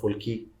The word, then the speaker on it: Fulki: She's a change maker, and she's the founder of Fulki Communications. I hope that I have the pronunciation correct.